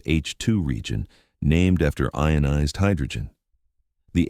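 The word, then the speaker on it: H II region: This bubble is called an HIi region, pronounced H2 region, named after ionized hydrogen.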